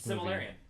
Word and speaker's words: Silmarillion: A new Lord of the Rings Similarian. movie. Is it that? Oh, the pronounced? Silmarillion?